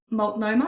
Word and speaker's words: Multnomah: kami Stevenson is an administrator with the malt multnomah I am I saying it right wonderful early